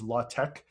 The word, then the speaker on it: LaTeX: uh well it's spelled latex uh the best pronunciation i've seen is la tec uh for what this is so basically la tech is a technically a type setting language which